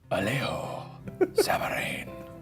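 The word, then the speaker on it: Alejo Sabaraín: I think it's pronounced Alejo Sabarain. What did I say? You said Alejo Sabarain. Sorry, let me take another stab at that. Alejo Sabarain.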